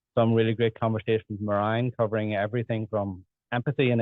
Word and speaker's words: Merijn: So in Spain, they call me, which is the furthest away from my original name I think you can get. So anything between that and the original pronunciation is totally fine with me. But it's Merijn. Merijn.